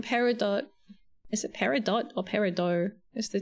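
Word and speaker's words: peridot: The word does have French origins, but most jewelers and gemstone collectors don't pronounce the t. They say parido.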